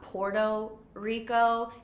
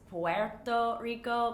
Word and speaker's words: Puerto Rico: the puerto ricans say it's not porto rico it's puerto rico but my accent sucks so i'm trying you